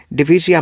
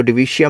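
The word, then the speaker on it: Divisia: तो उसके बाद हम डिफाइन करेंगे डिविजिया मनी। डिविजिया, कुछ लोग इसको डिविशिया मनी भी कह देते हैं, प्रोनाउंसिएशन अलग अलग होती है।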